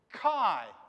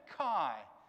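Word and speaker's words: καί: you read that word chi yeah kai that's what that's how you pronounce it it's a greek word it means and but kai that's how that word would sound yeah okay what about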